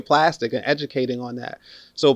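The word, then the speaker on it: Plastiq: an account on plastic p-l-a-s-t-i-q is the spelling the pronunciation is just plastic right you upload your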